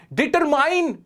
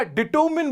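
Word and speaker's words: determine: डिटरमाइन की जगह डिटरमिन बोला मैंने, आई एम डिटरमिन्ड ऐसे बोला तो बात अलग हुई।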